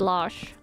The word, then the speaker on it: Lars: But you pronounce it as Lars. So you're not really saying the R when you're saying it in Norwegian. Maybe some dialects do, but my dialect do not.